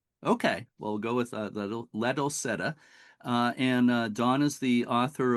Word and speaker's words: Ladolcetta: We just discussed the pronunciation of your name, Dawn, and you said Ladolcetta is the proper Italian name, right? But Correct. okay, but Ladolcetta is kind of an anglicization of the name.